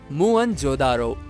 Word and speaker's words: Mohenjo-daro: Friends, the correct pronunciation of the word Mohenjo Daro is "muan jo daro".